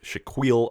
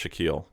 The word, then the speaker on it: Shaquille: happy 52nd birthday to Shaquil O'Neal nice I know his name is pronounced Shaquille okay we don't need